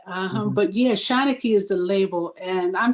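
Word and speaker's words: Shanachie: get signed so it's shanicky and i believe it's an old irish word um but yeah shawna key is the label and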